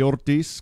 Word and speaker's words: Ortiz: Ortiz, climate. I just like saying your last name, man. Am I saying it correctly when I roll the R? Yeah, that sounds good.